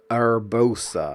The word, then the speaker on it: Urbosa: Urbosa, I think is how you pronounce it.